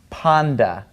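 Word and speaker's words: πάντα: The letter taf is pronounced with a T sound, a T sound, but when it has ni in front of it, it becomes a D sound, like dog in English, all right? So this word is actually pronounced panda, all right?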